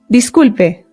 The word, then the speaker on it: disculpe: Another way to apologize is by saying disculpe. Disculpe. Disculpe. This just means excuse me. Now, in Spanish, the I always makes the sound E. E.